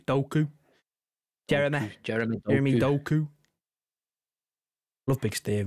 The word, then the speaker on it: Doku: It's not Doku, it's Doku.